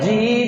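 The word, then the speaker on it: جيم: হরুফেরে নুক্তা জিম বলেন জিম জিন জিম জিম জিমের উচ্চারণ জিমের মাঝখান উপরের তালু জিবের মাঝখান উপরের তালু বলেন জিম জিম জিম জিম কোন সিটি হবে না জিম জিম জিম জিম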